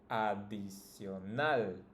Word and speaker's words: adicional: You just need to pronounce the last one, the strongest, the last syllable. In this case, it's tal. In the second word, it's nal. In this one, it's nual, right?